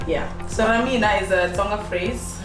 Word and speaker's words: Ramina: mean okay um so a lot of people used to pronounce it incorrectly and say romina yeah so ramina is a song of